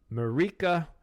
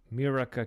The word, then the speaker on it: Mirika: Mirika, or Mirika. Okay, it's spelled M-I-R-I-K-A. Mirika.